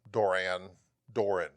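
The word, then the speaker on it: Duran Duran: Doran. Doran. I noticed you put the emphasis on the first part. Doran. Doran. Yeah, it's not Duran. Duran.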